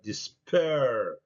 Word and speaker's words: despair: قلنا دائما الار احنا لازم ننطقها، الار لازم ننطقها. despair. الانجليز بيقولوا despair، لكن احنا بنقول despair.